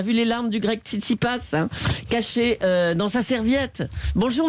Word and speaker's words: Tsitsipas: C'est pas la bonne prononciation. La bonne prononciation, c'est on dit Stefanos Tsitsipas.